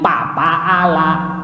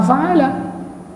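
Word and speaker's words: فعل: Coba Anda baca Al-Quran pakai kaidahnya nggak pakai pengucapan huruf Arab, rusak. Alam taro kai papa ala.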